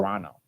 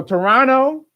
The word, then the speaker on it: Toronto: You don't pronounce the T at the end. Oh, you don't? Toronto.